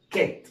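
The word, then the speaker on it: kit: خدوا بالكم ايه فرق بين النطق، شوف حرف الاي بيغير نطق الكلمه تماما. يبقى عندنا دي اسمها كايت لكن دي اسمها كيت.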